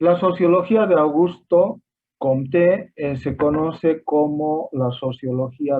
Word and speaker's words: Comte: nuestra se gana hispánica tenemos la tendencia a poner el tiro del acento en la primera sílaba entonces es muy común escuchar sobre augusto comte en francés con ten alianza con